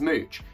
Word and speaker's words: Mooch: This is Mooch. He's called Mooch. Mooch rhymes with pooch, but he's not a dog.